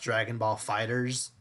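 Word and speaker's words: Dragon Ball FighterZ: okay, for the record, it's technically pronounced Dragon Ball Fighters, Yeah, but but why I make mean, the it's Z it's big?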